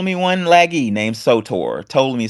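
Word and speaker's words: Ptolemy: one lagie named soor to me spelled with a p those you remember from sixth grade P toam me is way it's spelled and told me one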